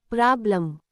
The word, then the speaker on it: problem: Pronunciation say it like problem. Rule explanation. In the word problem, the second part, lem, is unstressed. So the vowel e does not sound like e or a, it becomes a soft a.